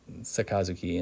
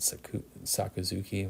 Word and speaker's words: Sakazuki: I used to say it saku sakuzuki, which is you're butchering the pronunciation if you're saying it that way. Um, sakazuki. You You got to say kaz at the same time. All one syllable. Slightly not like unnatural if you're a native English speaker, but you can kind of train your mouth to make the right motions.